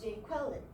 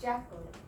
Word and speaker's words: Jacqueline: is the name Jacqueline, which the substitute teacher pronounced as Jaqueline. The IPA transcription is like this, and the syllable, the first word is pronounced as Jaqueline, which has 3 syllables and 2 stresses. And here is just Jacqueline, 2 syllables and just 1 stress at the front.